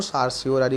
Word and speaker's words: certiorari: কেউ এটাকে সারটিওরারি বলে, উচ্চারণ সারটিওরারি করাই ভালো।